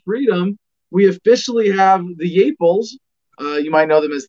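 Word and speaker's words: Yeaples: We officially have the Yeeples. You might know them as the Yeeples, as their name is, you know, phonetically pronounced.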